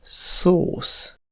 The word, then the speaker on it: szósz: La plus inhabituelle, c’est que S se prononce [ʃ], comme dans sós (salé), et le son [s] est écrit SZ, comme dans szósz (sauce), ou encore sziget (comme le nom du festival, et ça veut dire « île »).